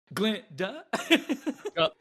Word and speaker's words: Glinda: And so, you know, it's Glinda, but the G is silent. I just, want to make that clear. Glinda?